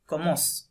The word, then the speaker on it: commence: তারপর এটা হচ্ছে je commence হুম commence comment কমস ইএন কমস। সি পর্যন্ত উচ্চারণ করতে হবে, রাইট?